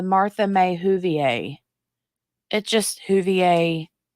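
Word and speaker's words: Whovier: It just Huvier rhymes with Jolie May.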